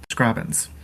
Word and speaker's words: Scrobbins: first podcast episode is how I pronounce my main username, Scrobbins. A lot of people who see it pronounce it with a hard O instead of a soft A.